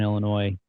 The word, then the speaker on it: Illinois: And yeah, man, just happened to fall into a really good association, really good academy when I was growing up in Northern Illinois, small town Crystal Lake.